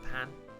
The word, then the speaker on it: pain: french yes but uh it's spelt the same as the word english word pain you just don't you just ignore the eye and pronounce it pan as in petite pan